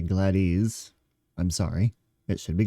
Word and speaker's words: Gladys: It should be Gladys, not Gladys.